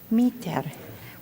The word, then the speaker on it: Mitre: Is it Miter? Mitter? Mutter? Miter. Well, I'll say it right next time. For you who don't know me, my name is Mitre, and I serve as the Risk Management Analyst.